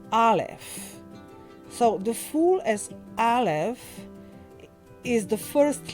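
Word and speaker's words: אלף: So the fool as alf is the first letter and in fact this letter is silent in Hebrew and represents the breath.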